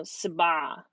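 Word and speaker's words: سبعة: but it's the number seven whoops seven so Sabbagh next we have the number eight what is an upside-down V which is pronounced the mom yeah so it looks like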